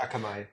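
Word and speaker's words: Akamai: Um, you'd already built a company that got acquired by um, Akami, Kami, however you want to pronounce it. Akamay.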